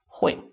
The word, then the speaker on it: 会: So this UI is not the full spelling. So the full spelling is H-U-E-I. It's still not easy for you. You make it into H-W-E-I. 会.